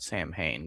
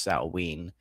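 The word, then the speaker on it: Samhain: Saturnalia Baltain Sam saw I always want to call it Sam Hayne, but it's technically pronounced sawing, even though that doesn't make any sense to an English brain, but English doesn't make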